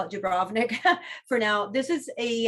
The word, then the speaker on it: Dubrovnik: dubrovnik and and really to pronounce it correctly and croatia they call it dubrovnik they really uh put the emphasis on that the do we usually say dubrovnik um but just for